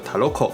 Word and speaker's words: Truku: The original sound of the pavilion is Truku (Truku), but in the later Japanese occupation era, it was pronounced as Taroko due to the pronunciation of the Japanese, and finally became what we call Taroko Taroko today.